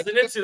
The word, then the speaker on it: Zenitsu: Zenitsu. Yeah, Zenitu.